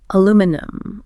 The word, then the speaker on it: aluminum: Aluminum or aluminum. This isn't just pronunciation, is it?